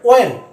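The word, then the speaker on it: when: ওয়াই, এটাকে হয়েন বলে, এটা হয়েন নয়, এটা ওয়েন।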